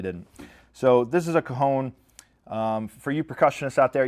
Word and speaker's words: Cajon: This is called a Cajon. It's spelled C-A-J-O-N, so don't make the mistake that I did and go into the Sam Ash in Richmond, Virginia and say, hey man, do you guys have Cajons?